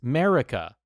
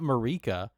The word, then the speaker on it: Marika: Here, Army Studio 7 says, it's America, like saying America, not Marika.